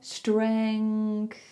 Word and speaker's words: strength: Maybe just start with the literal first letter, or you could start with str, str, str, or stre, stre, then then then s. Just split it up. So you would say stre, s. Make sure you are confident with the individual sounds first, then try pushing some together. So maybe then you go streng, if you feel confident with that, you can start to push it together. Strength.